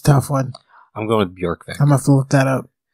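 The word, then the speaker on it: Bjørkvik: Is it Bjorkvik? BJ, I think, is Bjork. I also don't speak Swedish, so... That's hard. That's a tough one. I'm going with Bjorkvik.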